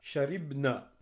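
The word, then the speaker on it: شربنا: Wa hunna sharibna. Donc ici, bien faire attention, sharibna, et il n'y a pas de prolongation.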